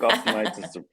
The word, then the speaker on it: Austinites: But now a lot of Austin, how do you pronounce Austonians? Austinites. What's the proper? I think Austinites is the Austin proper Knights.